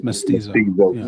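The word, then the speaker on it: mestizo: Myst pronounced it wrong. Oh, yeah. It's Mysto.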